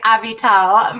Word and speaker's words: Avital: beat all felt like a vital I love your name and I love how you pronounce it I need to remember to say a veto versus just the normal I don't know now